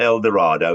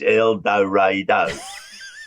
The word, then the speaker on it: El Dorado: these signs around saying this is how you pronounce our name it's not El Dorado it's eloro so but the reason I remember it was